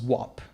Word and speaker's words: guap: Guapo became guap, which is essentially pronounced as wop.